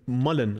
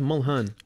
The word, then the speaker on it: Mulhern: Man said Mullen. I swear it's Mulhern.